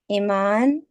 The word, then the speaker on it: Eiman: people's pronunciation so please tell us how you pronounce your own name Iman Iman okay that's good to know